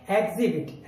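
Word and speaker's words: exhibit: हम जब इसको पढ़ेंगे, अगर हम एच का उच्चारण कर देते हैं तो ये बनेगा एग्जिबिट, जबकि हमें एच नहीं बोलना, हम इसको बोलेंगे एग्जिबिट, है नहीं बोलना क्योंकि हमने एच साइलेंट रखा है, तो ये बना एग्जिबिट।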